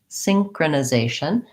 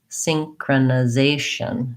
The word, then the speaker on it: synchronization: Synchronization. We have secondary stress on the first syllable. So there's a little bit of stress there, a little bit longer. Synchronization. Synchronization. I almost forgot my Z sound.